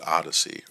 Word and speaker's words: OHDSI: the observational Health Data sciences and informatics initiative pronounced Odyssey or ohdsi and today it's used by over